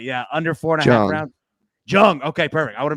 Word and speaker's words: Jung: i get it right yeah under four now jung okay perfect i want to make sure i got that right volkanovsky jung under four and a half rounds at plus